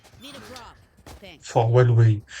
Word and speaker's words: Huawei: Toi, tu remets un W en plein milieu du mot alors qu'il y en a pas.